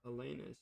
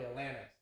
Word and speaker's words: Alanis: Ebony, Alexa, Alanis, or Alanus, or Alanus. Sterling, as it means not mixed. Alif. Actually, I like the one that you couldn't pronounce. It's probably Alanis, like Alanis Morissette.